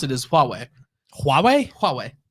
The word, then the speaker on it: Huawei: naturally i have not no oh how you pronounce it is huawei huawei huawei like ho huawei get into the